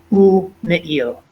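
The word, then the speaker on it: ומעיל: So in this case, we actually stop and then we pronounce the shva, ume'il.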